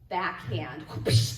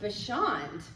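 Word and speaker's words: Bachand: And I was called Backhand. Yeah. The worst part was I wasn't even good at tennis. No. Now it's actually pronounced Bashand, which la poisson, it's French, yeah.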